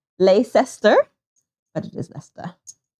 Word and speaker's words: Leicester: Had a friend from Leicester. How did you pronounce again? Leicester. Leicester. Leicester is Leicester. It does look like Leicester, but it is Leicester. It's many silent words. Many silent letters in Leicester.